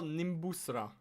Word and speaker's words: Nimbusra: How do you spell Nimbusra? Or did I say Did I say it right? Spell it for me, please.